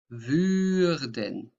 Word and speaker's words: würden: And can you say würden? Würden. So ü.